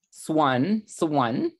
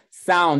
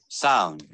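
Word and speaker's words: Samhain: Swan, I think that's how it's pronounced.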